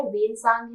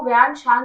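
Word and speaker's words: Xuanzang: छांग जो लिखा है उसका मेन नाम क्या है वेन सांग है इसको व्यान सांग भी प्रोड्यूस प्रोनाउंस किया जाता है और ये किसके टाइम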